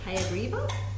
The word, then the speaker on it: Hayagriva: Is it Hayagriva? Did I pronounce that correct?